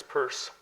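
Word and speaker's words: Peirce: you can't do it the name is spelled that way and it is purse the book which I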